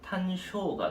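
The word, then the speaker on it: 単勝: 이제 일본 발음으로 발음으로 하면 탄쇼가 되는 거고.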